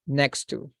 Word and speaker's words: next to: So as you can see, we have a double T here. So we are going to pronounce just one. So we can drop this one and we can join the word. So we can say next to, because we don't say next to. It doesn't sound natural. So we're going to drop this letter and we are going to join the word. So we are going to pronounce it as one single word next to.